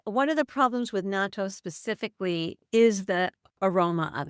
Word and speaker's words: natto: Like is it natto or nato? How do you say it? Natto, yeah. Natto, which is fermented soybeans and Japanese people have have it for breakfast often.